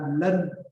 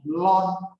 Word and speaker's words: ln: LN itu dibaca dengan len, gitu ya. Jadi LNB itu dibaca len B. Lalu ada sebagian orang, dosen saya membacanya dengan lon, LON, lon B. Ya, karena LN itu sebetulnya kepanjangan dari logaritma natural. Makanya sebagian orang membaca lon, gitu ya. Kalau saya terbiasa membaca dengan len, ya.